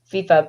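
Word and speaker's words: FEFEA: a f-e-f-e-a right huh how do you pronounce that acronym well it's fifa but it's an acronym can i can i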